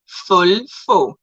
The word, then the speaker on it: Volvo: Okay, so if Volvo is to be pronounced German, it will be Fulfo.